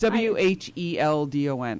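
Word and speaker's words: Whedon: writer whose last name I keep butchering, Joss Weldon or Weldon. He wrote the Avengers. Too. The first Avengers. Joss It's Wheldon. I can spell it, but Yeah.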